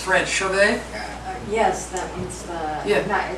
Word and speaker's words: Chauvet: Chauvet?